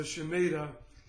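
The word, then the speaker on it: Shemitah: Christians that have read The Mystery of the shamida they're always ask me how to spell it it's s h e m i t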